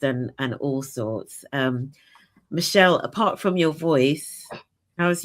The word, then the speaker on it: Machel: Am I pronouncing your name correctly? Michelle, Michelle, that's fine.